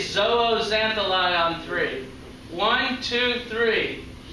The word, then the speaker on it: zooxanthellae: there's a type of dinoflagellate called a zooxanthellae zooxanthellae is how you pronounce that word everybody says zooxantheli on three one two three important dinoflagellates that